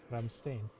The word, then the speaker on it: Ramstein: That's No, in Dutch it's Ramstein. Okay. Of course. Yeah. And well, that's how I pronounce it for them. and probably in English it's Ramstein.